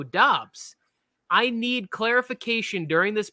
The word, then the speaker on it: Doubs: I've heard people say it's pronounced Dubs, and then people go Romeo Doubs.